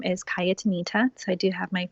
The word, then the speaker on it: Cayatanita: and locate me on youtube my name is kaya Tomita so I do have my first name it's spelled CA y ata and I ta and you can find me on Instagram as well and yet Anita on Instagram on snapchat on Facebook and I